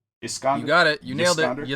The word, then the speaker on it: Iskander: And so she's sent to replace the old guy whose name I say is Yiskander. Iskander.